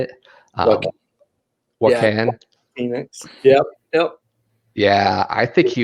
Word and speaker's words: Joaquin Phoenix: But the guy that I put down was the actor that played the most recent Joker, Joaquin Phoenix, I believe is how you say it. Joaquin Phoenix.